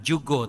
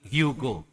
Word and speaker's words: Hugo: berbeda ya contoh misalkan kalau di kita itu bacanya J tapi orang-orang spanik ya mereka-mereka dari Colombia dan lain sebagainya yang berbahasa Spanish itu J menjadi H ya Jadi bukan Jugo tapi Hugo ya atau orang Turki yang